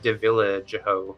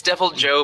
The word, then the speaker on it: Deviljho: sworn that was called I thought it was devil Joe but like looking at it it looks like Dilla jeo no it's it's devil Joe but there's an H